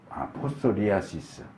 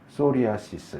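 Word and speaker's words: psoriasis: 포소리아시스. 이게 푸가 묵음이면 소리아시스 이렇게 하는 것 같아요, 영어로.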